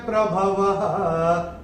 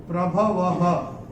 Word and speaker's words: प्रभवः: तो चरण की समाप्ति पे पहले और तीसरे चरण में अगर ओ आता है तो ओ का जो उच्चारण होता है वो विसर्ग होता है। ये हम पहले के वीडियोस में बता चुके हैं आपको। तो ये इसका जो प्रोनाउंसिएशन होगा, जो उच्चारण हम करेंगे वो करेंगे प्रभवः।